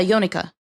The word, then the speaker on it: Yonaka: I just finished talking with wait, how do you pronounce his name? Yonaka? Yeah, Yonaka.